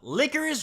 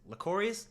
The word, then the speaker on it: Lycoris: so licorice recoil licorice licorius like okay I'm pretty sure it's pronounced licorice recoil but if I'm wrong then hey don't hold me to it is this anime